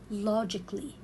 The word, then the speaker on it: logically: I cannot read it logically. No, I will read it logically. Why? Because here I cut letter A from the word. I will get rid of letter A. Why? Because it comes before LLY.